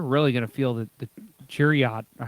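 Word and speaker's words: Chiarot: The one that I don't think anybody realizes is they're really going to feel the Chariot. Or how do you say his name? Chariot. Sherratt, yeah, Sherratt.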